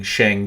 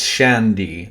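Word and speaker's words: Shangdi: While the Chinese based on the Shang are going to bring Shang Di which seems to be the deified sign shang it's Shandi but the earlier pronunciations were Shang.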